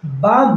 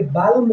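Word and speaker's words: balm: होता है भिक्षा और बाम बाम मतलब मरहम होता है लेकिन इस एल का उच्चारण हम नहीं करेंगे बालम नहीं बोलेंगे बाम बोलेंगे बाम मतलब मरहम अब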